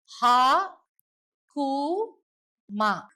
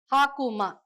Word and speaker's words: Hakuma: இந்த சிஜிலை எப்படி ப்ரொனவுன்ஸ் பண்ணுவாங்க அப்படின்னா ஹா கு மா, ஹாக்குமா.